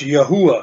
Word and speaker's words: Yahuwah: And again, we believe that the pronunciation would be closer to YHUH or YHWH, which would be pronounced Yahuwah. Some spell it, put a W in there if they think it's YHWH, but it still comes out in the pronunciation the same, Yahuwah.